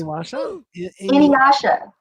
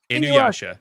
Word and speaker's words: Inuyasha: There's no W. Don't say it with a W. I rest my case. Inuyasha. Inuyasha. There it goes. Inuyasha.